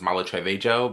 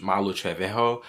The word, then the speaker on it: Malu Trevejo: So, I know I was mispronouncing her name on TikTok cuz I swear like when I was younger, that's why I thought that's her name was Malu Trevejo, but it's Malu Malu Trevejo.